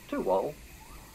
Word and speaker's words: Tuwal: You see the word written down, it doesn't mean much, but Tuwal, pronounced correctly.